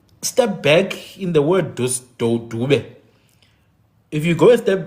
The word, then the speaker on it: Dube: I want to look at the word dube, for example. Dube, in Kora, it's dobe. Dobe. It's dobe in Kora.